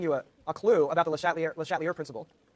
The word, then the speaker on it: Le Chatelier: And I've already sort of given you a clue about the Le Chatelier principle. Le Chatelier principle. Should try to use French pronunciation.